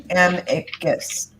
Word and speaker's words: amicus: Janie Davis says it's amicus. Amicus.